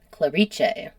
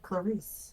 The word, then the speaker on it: Clarice: on my pronunciation because it's just spelled Clarice, but word on the street is it's pronounced in Italian. Clariche. I would have said Clarice.